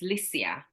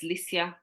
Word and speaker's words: Liesje: they said to me, your name is not Liesje, it's Liesje. It's pronounced Liesje.